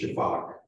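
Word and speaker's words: sifaka: And maybe my favorite lemur, the Veros, and that word S-I-F-A-K-A is pronounced shafak, and that's the call that they make, sounds like shafak.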